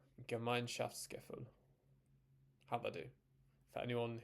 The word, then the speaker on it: Gemeinschaftsgefühl: Are you ready for me to try and pronounce it? Gemeinschaftsgefühl. Gemeinschaftsgefühl.